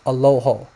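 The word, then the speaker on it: ܐܠܗܐ: is allaha and maybe in Western you know that it's pronounced aloho you're going to hear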